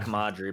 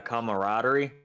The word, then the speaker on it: camaraderie: Commod Yeah, commodery or not commodery, but it's camaraderie.